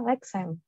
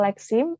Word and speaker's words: leksem: Jadi LikeSam itu dibacanya LikeSam. Bukan, kalau LikeSim itu bahasa Inggrisnya, kalau bahasa Indonesianya itu bukan LikeSam, tapi LikeSam.